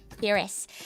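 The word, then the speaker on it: Firis: you'll have to forgive me, I might incorrectly pronounce these Atellier Shelly Charalie Atelier Sophie and Atellier Fiser. Yep. Ferris.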